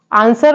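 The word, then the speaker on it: answer: अगला वर्ड है आंसर आंसर में डब्लू साइलेंट लेटर है नॉर्मल हम लोग पढ़ते हैं आंसर ऐसे टाक टाक में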